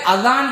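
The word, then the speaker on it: أذان: தால் உச்சரிப்பில் வரக்கூடிய அதான் என்கிற இந்த சொல் பாரசீக மொழியில் உள்ள ஒரு சொல் அரபியிலும் இது பயன்படுத்தப்படுகிறது.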